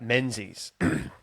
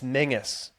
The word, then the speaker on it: Menzies: You know, I'd say my name to a new teacher, and they'd read out Menzies, and all the school kids, all 30 of them, would go, "It's Mengus."